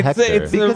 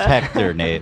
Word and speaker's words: Hector: how do you pronounce Hector May askor the way I said H is silent good Hector Legend